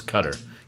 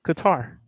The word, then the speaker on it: Qatar: and guitar that's what's how you pronounce it is cutter q a t a r is cutter is that it no it's correct it's guitar it's guitar yeah totally right it's not cutter there you go i